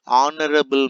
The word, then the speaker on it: honorable: He is not an honorable man. See here, H is constant, but it is starting with vowel sound. So H is silent, so we have to use an honorable man.